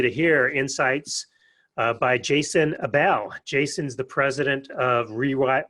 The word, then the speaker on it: Abell: Abell like table. Abell like table.